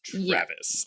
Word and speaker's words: Traves: It is spelled like Traves, but it is Travis.